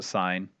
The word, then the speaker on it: sin: like it looks like sin but we still pronounced a sine of opposite over hypotenuse and then tangent tangent